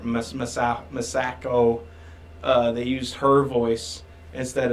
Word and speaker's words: Masako: Yeah, but they used Masaka. I think that's how you say her name. Masako.